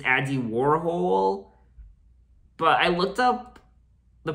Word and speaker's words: Warhol: mispronounces Warhol's name, and Bowie repeatedly demonstrates how to say it properly. Warhol, Warhol. I always thought it was Warhol. Andy Warhol. Andy Warhol, Andy Warhol. Except the way David says it, he says it like Warhol.